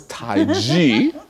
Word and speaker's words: taiji: example in taiji and I pronounce it different than most people are used to hearing it because the Europeans wrote it Tai Chi because they couldn't hear this so it's taiji and and it just